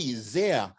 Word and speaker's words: Zehr: lucky to have jerry zia uh rhymes with dear and here yes he is a